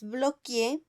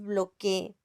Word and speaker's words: bloquee: No es bloquee, es bloquee.